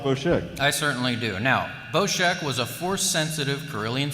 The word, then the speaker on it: Boshek: in the Obscure uh character Face Off is boshek so that's the official pronunciation is boshek uh number of dialogue lines in the script